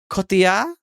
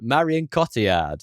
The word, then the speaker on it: Cotillard: Cotillard? I mean, you can probably do it without the accent. Cotillard? Marion Cotillard is what you're I say. saying Yorkshire, Marion Cotillard.